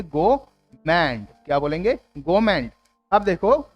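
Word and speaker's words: gourmet: इसमें भी are silent रहेगा, तो आप बोलेंगे गोमेंट।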